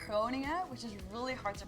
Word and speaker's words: Groningen: I think if I like one is called Groningen, which is really hard to pronounce. Groningen? Groningen.